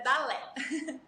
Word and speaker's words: Dalé: Muita gente fala Dalé. Dali, mas é Dalé.